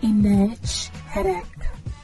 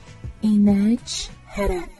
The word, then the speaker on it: inD Hr Ek: It is pronounced as inEdj Hedek. inEdj Hedek.